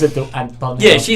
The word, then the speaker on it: Antonio: Antonio.